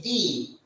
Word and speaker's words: die: also the the these this is not die as we pronounce it in english this is b this is d so this is d